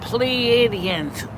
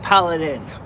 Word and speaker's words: Pleiadians: We're talking about Pleiadians, not Paladins.